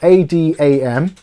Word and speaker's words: Adamant: content, head over to Adamant IT 2, their channel. So that's spelled ADAMANT IT. So like Adam Ant IT, but it's Adamant.